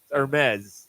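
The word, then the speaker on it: Hermès: uh the handbag right no not Hermes no no no heres yeah but don't mispronounce that EQ will jump all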